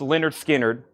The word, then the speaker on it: Lynyrd Skynyrd: sticky note on that's Lynyrd Skynyrd pronounced Leonard Skynyrd 55 to Paul Gill